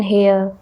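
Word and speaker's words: heir: कुछ H word होते हैं, मतलब जिसमें कुछ ऐसे वर्ड होते हैं जिसमें जो एच होता है वर्ड वो साइलेंट देखने को मिलता है, वहां पर हम एन का यूज करते हैं।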